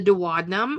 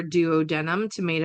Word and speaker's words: duodenum: From proximal, starting closest to the stomach or the heart, is the duodenum or duodenum, tomato, depending on who you're talking to for pronunciation.